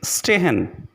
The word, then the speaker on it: stehen: The next letter combination is S, P, S, T, which is pronounced like the letter combination S, H, P, S, H, T.